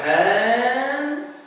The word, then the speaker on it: handsome: Like in the word handsome. Handsome. We don't say handsome. We say handsome. بنقول هنا handsome بسكوت أو بعدم نطق حرف أو صوت الدال.